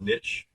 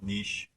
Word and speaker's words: niche: in America don't it's kind of like the word niche typically people in the United States call it niche and others call it niche so solder solder take